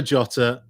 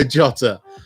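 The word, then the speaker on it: Jota: themselves right round three diego jotter or diego shotter as perhaps it should be in portuguese question number one wolves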